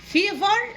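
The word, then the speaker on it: fever: حمى ممكن ننطقها بطريقتين، ممكن فيفر او فيفر.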